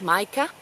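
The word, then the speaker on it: Matjkas: They're called Maika, spelled M-A-T-J-K-A-S, pronounced Maika or Maika, and Maika Yonu.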